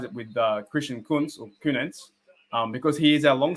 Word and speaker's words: Kuntz: I've bought a 46, Christian Kunens or Kunz. That's how you pronounce his name, Kunz.